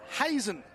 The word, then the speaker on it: Hazan: So top of the order there, Jacob Hazan there for Cronulla Blue, or Hazen as it's pronounced.